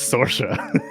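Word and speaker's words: Saoirse: nordverse to take over you don't want to say that word i promise you it's not at all said how it's spelled jesus yeah definitely well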